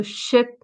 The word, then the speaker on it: ship: pronounce it well so ship is a shorter sound and C is quite a long sand you're smiling like the way you say cheese when you take a photo so um what I